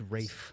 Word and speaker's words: Ralph: Rafe. Williams. Oh, wait. Wait. Rafe. Yeah. Rafe. Rafe. Rafe fines. Is that an L? It is. That's how you spell it. It's Rafe Fines.